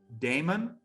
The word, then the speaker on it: daemon: in one podcast uh how do you pronounce it damon instead of demon yeah yeah yes d-e-a-m-o-n